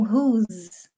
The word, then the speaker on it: whose: Não confunda o who is com whose. Porque hoje lá no meu story eu falei sobre pronúncia, né? Whose tem som de Z. Who is tem som de S.